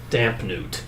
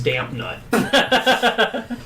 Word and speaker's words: Dampnewt: Lord Tweedery Dampnewt. Okay. Okay. Rita mispronounces it as Dampnut.